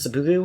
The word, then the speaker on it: seppuku: Is like, he literally outlined the steps for seppuku. Is that seppuku, how's it pronounced?